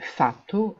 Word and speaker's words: fatto: Le participe passé irrégulier de fare, c'est fatto avec deux T, qu'on doit entendre lors de la prononciation.